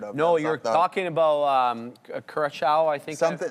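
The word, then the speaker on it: Curaçao: I was just going to say a good way to remember the Curacao pronunciation is the same as that blue liqueur, like blue Curacao. Like it's CU and then, the Sao.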